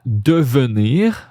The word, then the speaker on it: devenir: We skip that E.